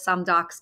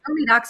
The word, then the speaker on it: SoMeDocs: Some people still call it SoMeDocs because they don't realize it's pronounced SoMeDocs, but that's perfectly fine.